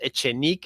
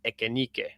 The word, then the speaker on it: Echenique: But I think it's pronounced Echenique and not Ekenike. It's Echenique.